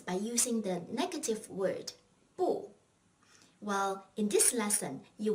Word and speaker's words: 不: However, when you combine the negative word 不 with another fourth tone word, 不 becomes the second tone, 不.